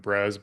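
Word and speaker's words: Brēz: I pronounce it Brez, Brez. They're in the cannabis drinking space, and I've seen them do well.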